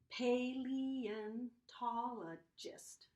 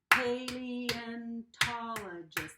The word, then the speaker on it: paleontologist: It's a paleontologist. How many different syllables? Or if I clap that out, let's try it. Paleontologist. That is a big word. 6 claps in that word.